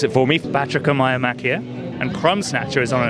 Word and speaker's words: Batrachomyomachia: So it is based on an ancient Greek story, which is called, I will ask David to pronounce it for me, Batrachomyomachia, and Crumb Snatcher is on an adventure that